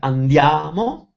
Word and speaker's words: andiamo: For example, some four-syllable words like andiamo are accented on the third syllable, like andiamo, but others like telefono, they have the accent on the second syllable, like telefono.